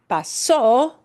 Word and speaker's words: pasó: If you punch the o at the end harder, pasó, it turns it into it happened.